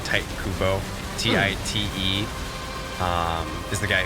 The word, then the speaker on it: Tite Kubo: yes the guy there two strings type white mispronouncing but it's like Tite Kubo TI te is the guy who created and